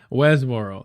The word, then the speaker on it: Westboro: Burstboro? How do you say that? Somebody help me out. I got an accent, y'all. Westboro.